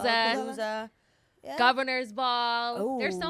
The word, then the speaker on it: Lollapalooza: yeah, Lollapalooza, Lollapalooza.